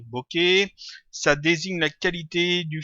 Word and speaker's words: bokeh: Voilà, ça se prononce bqué.